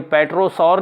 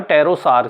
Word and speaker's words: pterosaur: इसी तरह से आपका हुआ PTEROSAUR, ये पेट्रोसौर नहीं हुआ, ये हुआ टेरोसार, क्योंकि इसमें आप देख रहे हैं P के